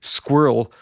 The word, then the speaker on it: squirrel: But some people say squirrel where it's one syllable and ends in earl like it rhymes with the word earl.